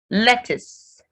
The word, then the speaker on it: lettuce: r's are pronounced library lettuce lettuce so letter u represents the a sound in this word so when you